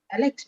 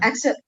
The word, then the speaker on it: Axel: Alex, right? No, Axel.